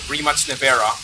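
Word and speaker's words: Rimac Nevera: with your Remax Nea, your Remax Nea, that's the correct pronunciation.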